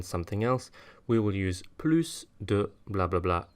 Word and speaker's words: plus: else we will use Palouse do blah blah blah notice this time that I am pronouncing the s as an S so for example here